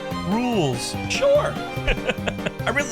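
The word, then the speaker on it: Rouxls: It's pronounced rules.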